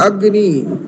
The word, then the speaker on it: अग्नि: अग्नि, गकार को आधा करके बोलना और नकार को पूरा उच्चारित करना, तो उसमें उचितम न अनुभूति।